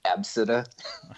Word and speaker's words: ABCDE: ABCDE, and they pronounce it Absida.